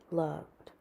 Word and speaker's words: loved: They are pronounced with the d sound. Lived, traveled, called, loved.